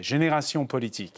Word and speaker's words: Génération Politique: And thanks to Hind Zian, founder and CEO of consultants, I pronounce it the French way, Génération Politique.